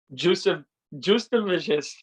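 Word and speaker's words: Jasudavicius: Justavicius.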